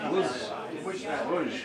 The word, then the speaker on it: Łódź: What's the pronunciation? Wódź.